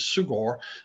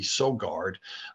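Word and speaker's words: Søgaard: The authors, it's from Denmark, and I'll pronounce it in the Danish way. The first author is Sugard, English pronunciation, or American pronunciation would probably be Sogard.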